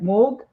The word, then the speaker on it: Mog: that because uh if if you really pronounce my name in proper I would say Korean it's like Moog and yeah and she